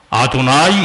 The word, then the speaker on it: 아도나이: 근데 유대인들은 거기 지나갈 때 어떻게 읽는 줄 아세요? 아도나이 이렇게 읽어요.